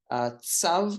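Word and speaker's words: צב: I've used the TS in this example because many people use TZ and make it sound like zav, which is incorrect. But I have both of them in case. Tzav is the correct way of pronouncing it, and I'll say it slowly.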